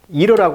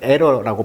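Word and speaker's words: era: 이제 에라 스토어라고 할까요 원래이 에러란 말이 그 이러라고 발음하기도 하고 또는 에러라고 발음하기도 하죠 시대란 뜻이죠 시대 근데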